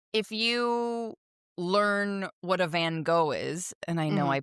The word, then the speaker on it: Van Gogh: Because, you know, if you learn what a Van Gogh is, and I know I pronounce it I'm pronouncing it the American way, but whatever.